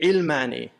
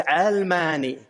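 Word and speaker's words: علماني: They say ilmani, which gives people think it's related to ilm. But it's actually, the original ta'rib was almani. It's related to the world.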